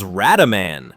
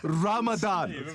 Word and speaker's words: Ramadan: But instead of being menacing, bin Laden keeps giggling, fumbling his lines, and even mispronouncing Ramadan as Radaman. Wait a minute, did I just say, what did I say, Radaman? Ramadan.